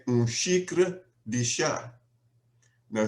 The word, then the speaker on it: xícara: tea, I would say xícara de chá. Now, xícara is spelled X-I-K-R-A, with the X having an SH sound.